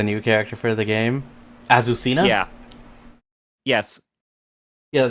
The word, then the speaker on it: Azucena: character for the game azucena yeah yes yeah that's I believe that's how it's pronounced like if you watch the Tekken trailer that's how the announcer pronounces it but it's not just azusina it's azusina from Peru